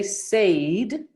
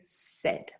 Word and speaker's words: said: of say said it it's a little bit like pay it follows the same pattern in terms of how it's written but it's pronounced slightly differently you wouldn't say sayed you'd say said ernie said he couldn't